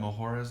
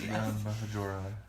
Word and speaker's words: Majora: Majora. I don't know. Our logic, I think, is just like the J. You pronounce it as an H.